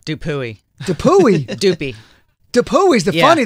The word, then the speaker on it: Dupuy: Tina, what's the most common mispronunciation of your last name? Dupuy. Dupuy? Dupuy. Dupuy's the funny though. That's funny. Dupuy. Dupuy.